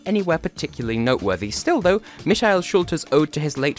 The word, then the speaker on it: Michele: alone by Michele schulter spelled Michael pronounced Michele representing Germany in this year's